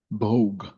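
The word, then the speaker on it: Бог: Bogue.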